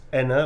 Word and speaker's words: Aenne: Next up is for Enna, although it's spelt Aenne. It's pronounced Enna, like Emma.